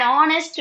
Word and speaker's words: honest: Again H is a silent letter.